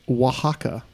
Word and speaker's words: Oaxaca: correctly spelled the name of the Mexican state pronounced Oaxaca that's gonna be fun Oh ax ACA and that is correct third question for you which u.s.